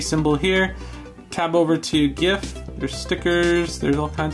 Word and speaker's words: GIF: excel is actually really easy and yes it's pronounced gift not jiff because it's graphics interchange format sending a gif